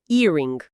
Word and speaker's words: earring: A tradução que está na lista é earring. Ok, vamos para a pronúncia.